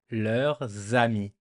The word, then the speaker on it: leurs amis: And because there's a S, it makes a little liaison, the little connection with the first vowel from ami. Leurs amis. Leurs amis. So to pronounce it good, you just pretend that ami starts with a Z in your head.